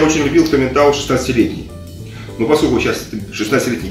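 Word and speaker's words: Tomintoul: Таминтау. Это виски называется Таминтау. Таминтау. Пишется OU, читается АУ.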